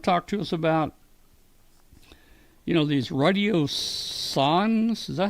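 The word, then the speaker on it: radiosonde: He's going to talk to us about these radio sons. Is that how you say it, Bill? Radio son? That's right, radio science. Yeah, Radio Son. I keep on saying Radio Sonde, but it's Radio Son.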